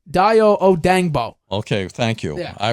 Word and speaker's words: Dayo Odeyingbo: First of all, pronunciation, Dayo Odeyingbo.